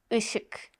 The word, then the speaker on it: Işık: Işık. Light. Işık. Işık. Işık. Işık. Işık. Işık. Işık. Işık. Işık. You can hear the sound very briefly at the end of the word obstacle in English.